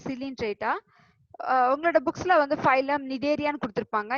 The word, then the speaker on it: Cnidaria: So Cnidarian வரும்போது just remember Cnidaria C is a silent one.